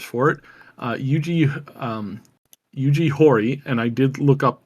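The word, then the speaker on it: Yuji Horii: the primary Developers for it uh eugi um Yugi hori and I did look up how to pronounce his name name properly and apparently that's the way you pronounce it is eug Hy um he is 70 and he is still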